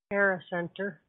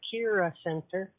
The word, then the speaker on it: Kira Center: year and a half pronouncing it improperly Cara Center instead of Kira Center so uh Kelly's here